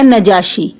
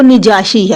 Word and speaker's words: نجاشی: کا نام اسہمہ ہے، اور اردو میں اس کا جو تلفظ ہے وہ ہے نجاشی۔ عربی میں بھی یہ تلفظ ٹھیک ہے، لیکن عربی میں جو زیادہ فصیح ہے، زیادہ بہتر ہے، وہ نجاشی ہے، یعنی نون کے نیچے زیر، نون کے نیچے کسرہ۔ تو یہ نجاشی جو